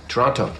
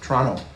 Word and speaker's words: Toronto: Toronto. Toronto. Canadians don't pronounce the T.